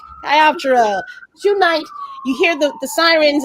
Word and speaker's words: Chiroptera: Chiroptera, which is pronounced correctly. You heard it here first from the creators of the book. Chiroptera.